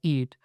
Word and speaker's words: EEAT: Yeah, so eat, EEAT, and we pronounce it as eat, is basically Google's way